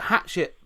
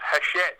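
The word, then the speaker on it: Hachette: a a comp a competitor I noted that hatchet part worker do have looked at doing it's actually pronounced haset but I love the way you pronounce it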